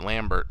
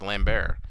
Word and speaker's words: Lambert: people who pronounced it Lambert but it is wrong because he is French and in France it is pronounced lamb bear but our fans may